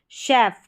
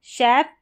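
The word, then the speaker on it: chef: सी एच को श जैसे कि यहां पर शेफ क्या है? शेफ और शेलेट।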